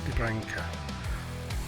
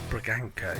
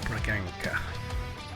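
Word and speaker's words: Bragança: And Geller out to a Sprilla to Debranca. It's Braganca, isn't it? Not Bra. Oh well. A Sprilla. I'll have to sell him because I can't pronounce his name. Braganca.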